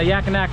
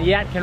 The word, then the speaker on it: Yadkin: We've moved spots here and going up here in the Yakinak River. How do you say it? Yakin. We've moved spots here, we've went up, we're driving up in the Yadkin River, see if we can't get some big old flatheads.